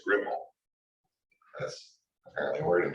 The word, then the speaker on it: REPL: It was made by Czechoslovakians who apparently pronounced that REPL as Ripple.